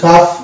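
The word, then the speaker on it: calf: তারপর হচ্ছে কাফ এল সাইলেন্ট থাকছে।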